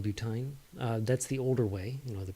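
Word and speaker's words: butyne: in Y in E, and they're pronounced ein. So this right here, B but 1 ine. It's a butine.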